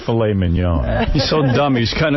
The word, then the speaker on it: filet mignon: how about tenderly aged filet mignon? Dick, you're an asshole. You don't say... How do you say it?